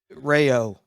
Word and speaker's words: Raio: the D got it I love it okay Rayo that's how it's pronounced Rayo I got you I know like